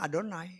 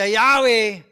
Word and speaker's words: YHWH: Kan kalau mereka ketemu Yod-He-Waw-He, YHWH, itu bacanya Adonai. Bukan baca Yahweh.